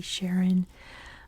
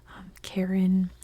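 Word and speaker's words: Charon: come for me because there's like three acceptable pronunciations of that Moon it could be Sharon Karen Chiron whichever one you want they're all correct Born This Day 1949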